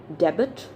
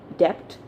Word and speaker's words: debt: is d-e-b-t and what is it do we pronounce it debit debt no it's debt okay it's not debt it's debt so most of us make mistakes